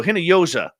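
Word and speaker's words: Hinojosa: The J is pronounced like Jose. Okay, so Hinoyosa, welcome.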